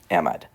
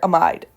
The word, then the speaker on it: amide: we say am um amid the amid or amide, depending on who teaches you how to say it. I've heard amid an amide. I recognize them both.